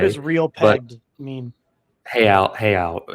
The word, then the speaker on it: real: Hayao is the currency. Hayao pegged it's spelled real.